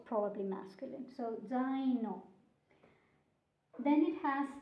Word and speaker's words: zaino: Then it has the first letter is the sound with a Z. In Italian, you spell it with one letter, so one consonant, but the sound has two consonants because it's d, z.